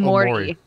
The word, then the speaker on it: Omori: It's called Omori.